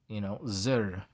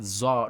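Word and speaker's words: צור: Zur is not zor, not it's not zor, but it's zur.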